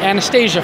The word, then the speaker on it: Anastasia: I'm here now with Kandyse McClure, and we know you best from Battlestar Galactica, and Anastasia from Battlestar.